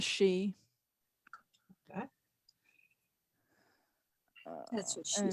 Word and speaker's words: Sidhe: Sidhe is the older spelling. Si with a fada is the newer spelling. Just pronounce she.